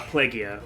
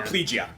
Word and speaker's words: Plegia: they frame it so well is like uh plagia or PL plegia yeah yeah it's actually pronounced pretty plegia from what I to understand but like yeah